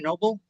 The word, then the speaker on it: Noble: Um, so ren Noble, it's pronounced noble. In English, I think they call him like like like a noble guy, noble, but in Spanish it's noble.